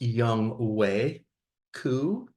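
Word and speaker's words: Younghoe Koo: Obi-Wan I see you are there it is pronounced young way C not not how you think it is he's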